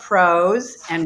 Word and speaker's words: PRose': a because we love pros and we're pr professionals pros and pros a rhymes with rose and the show's during